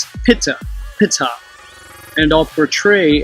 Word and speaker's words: Ptah: of the deity called Ptah, or Ta, if you use the silent P, Pitta, which was phonetically pronounced Pitta, and I'll portray how